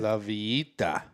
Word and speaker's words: La Villita: The owner of this building, the La Villita Assembly Hall, is it La Villita? La Villita? How do you say it? La Villita. James, can you pitch in? La Villita.